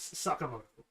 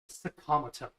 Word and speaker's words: Sakamoto: There's like the actual pronunciation is Sakamoto. Their pronunciation is Sakamato.